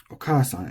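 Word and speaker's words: お母さん: These are very intuitive for English speakers because the accent, the pitch, is lining up with the long syllable.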